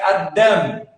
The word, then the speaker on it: Adam: a Bíblia com Adão na verdade a pronúncia Adam Adam as Dálias e meio